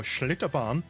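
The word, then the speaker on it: Schlitterbahn: So Schlitterban means slippery road. I don't know how I have to say it like that, but I feel like if you speak German, you speak if you speak in a German accent, that's how you're going to say it.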